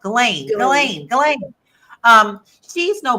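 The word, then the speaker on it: Ghislaine: I want to keep calling her Jazelle, but it's not Jazelle. Galain.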